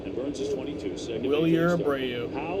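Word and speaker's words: Wilyer: Willier Abreu. Apparently his name is pronounced Wilger, First start in Fenway Park.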